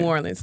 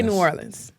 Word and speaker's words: New Orleans: New Orleans. The locals say New Orleans. Okay, New Orleans is what everybody else says.